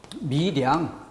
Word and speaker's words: 밀양: 그런데 이 단어는 연음이 됩니다.